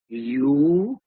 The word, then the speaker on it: European: No, because again, this word sounds like European, like this. The sound is that of a consonant.